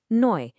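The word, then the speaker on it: neu: They make an oi sound like in the word toy or boy. Let's try a few out first using eu. Noi.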